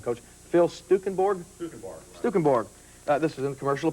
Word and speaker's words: Stukenborg: And how do you pronounce this guy's name, Coach? Phil Stukenborg? Stukenborg.